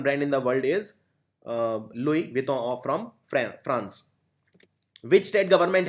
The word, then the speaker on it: Louis Vuitton: It's a French brand, luxury garments, luxury clothes, Louis Vuitton. It's pronounced as Louis Vuitton.